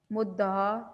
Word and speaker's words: مدعا: تلفظ واضح کریں: مشتاق، مدعا، میم کے اوپر پیش آئے گی، دال کے اوپر زبر آئے گی اور دال کے اوپر شد بھی آئے گی۔ مدعا، وفا دونوں پہ